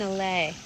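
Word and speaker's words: allée: What's an allay? It's a like row. alley? Like an spelled I guess the same way? No, it's spelled A-L-L-E-E. Oh, okay. But it's basically French for an alley.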